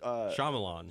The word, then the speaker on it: Shyamalan: Wait, how do you pronounce? Shyamalan.